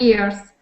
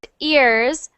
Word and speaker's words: years: 55 years 45 yearsss so not ears but years y y Years Years good good um and it looks like it's e and then a so sometimes people say that um they mispronounce it like years but it's just the e sound years years years okay years much better so 45 years 4